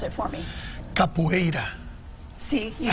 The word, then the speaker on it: Capoeira: Pronounce it for me. Capoeira.